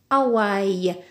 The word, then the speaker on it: Hawaï: avons où on a dit ou avec y s'écrit o y bowling Hawaii Hawaï nous avons a le haché muet ne se